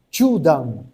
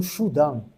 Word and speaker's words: chudan: Então, Chudan, né, que seria a região mediana, né, você não pode ler como Shudan, né, porque senão a pronúncia fica errada.